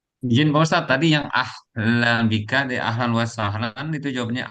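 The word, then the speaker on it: أهلاً بك: Adapun ahlan bika bisa kita artikan sebagai selamat datang juga. Seperti itu.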